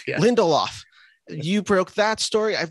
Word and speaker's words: Lindelof: week where it was I believe is Damon lindendorf is how you pronounce his name Lindelof Lindelof you broke that story I know you've broken